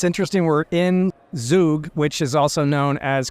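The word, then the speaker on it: Zug: can do together yeah it's interesting we're in zoo which is also known as crypto Valley you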